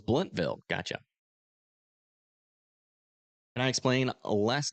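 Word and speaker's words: Blountville: Oh, it's Bluntville.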